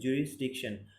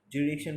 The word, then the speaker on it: jurisdiction: Next কী রয়েছে 2 নম্বরটা দেখো কী রয়েছে, জুরিসডিকশন। জুরিডিকশন বলেই আমরা এসটা সাইলেন্ট রেখে, তো জুরিডিকশন মানে কি, বানানটা কি, JURISDICTION, জুরিসডিকশন, JURISDICTION।